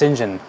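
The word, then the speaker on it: St John: sinjin john rivers uh that's pronounced shinjin an unusual pronunciation but it is stinging john he's described as a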